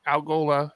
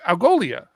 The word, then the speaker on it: Algolia: And when I log into the Algola, am I saying that right? Algola? Algolia.